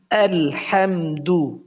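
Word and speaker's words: الحمد: আবু বকর ভাই খুব সুন্দর বুঝতে পেরেছেন এরকম পড়তে হবে চলুন সামনে চলুন আজকে সূরা ফাতেহা শুরু করব আমরা আলহামদু আলহামদু এটা আমরা সূরা ফাতেহাটা আমরা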